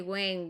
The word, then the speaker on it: when: O sea que when, where, wish, ¿cierto? Nunca se lee la H es muda.